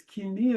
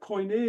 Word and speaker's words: Koine: Okay, the way that in the academia is, it's Kini in modern Greek, but Koine is the way it's pronounced in academia, because people feel that ancient Greek was pronounced in a different way than modern Greek is.